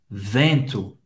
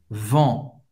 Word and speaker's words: vent: Vamos falar agora do vento. Le vent. Le vent. E N em francês tem o som do en. En, que é bem nasal. En. O T, você não vai pronunciar.